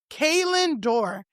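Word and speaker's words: Kalan Dor: media guy who is a man by the name Kayn Door. And his name is spelled, if you can believe, K A L A N, and Door is spelled D O R.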